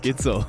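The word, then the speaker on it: Gidsel: My last name rhymes with Schnitzel. Hello, my name is Matthias Gitzel.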